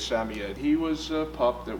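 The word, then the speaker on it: Samoyed: well well it's about a uh samoy puppy or samed depending on how you want to pronounce it the correct way is Sami Ed he was a pup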